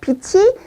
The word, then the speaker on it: 빛이: 그래서 이때는 치읓 받침이기 때문에 발음할 때 치로 해야 돼요. 빛이 강할 때는 선글라스를 씁니다.